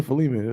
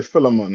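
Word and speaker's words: Philemon: the book of Phil how you pronounce other one I'm used to say fiman is it filon I said yeah filon I just what you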